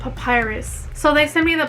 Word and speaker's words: Papyrus: a birthday card so they sent me that papirus papirus so google said that it's pronounced papyrus so they sent me the papyrus greeting card